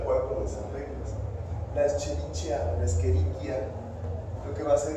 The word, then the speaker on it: Escherichia: Otra cosa importante, acuérdense de pronunciar, no se dice Escherichia, es Escherichia. Sí, Escherichia. O sea, cuando vean los nombres, por ejemplo, en este caso, Escherichia, o sea, textualmente se lee como Escherichia coli, pero acuérdense que esto suena como si fuera acá, o una C, ¿no? O una Q, vaya.